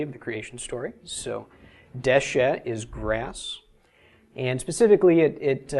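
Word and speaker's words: דשא: All right, first off, this is Dalet Shin Aleph, pronounced Deshe.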